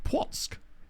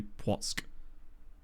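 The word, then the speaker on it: Płock: I guess that makes sense because the soft C, and then you kind of get that. Where does the sk? I guess, yeah, I suppose it would be because the soft C followed by K. It would have to be Płotsk. Oh, and slip through there.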